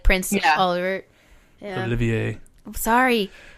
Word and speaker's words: Olivier: Olivier. I'm sorry. It's okay. You can say Oliver because that is how they say it in English.